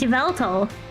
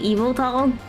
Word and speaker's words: Yveltal: Is Yveltal? Although, isn't it actually like Eviltal? I don't know, but I say Yveltal.